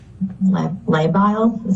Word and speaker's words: labile: The next sentence here says her mood has been labile. Am I pronouncing that correct? Yes.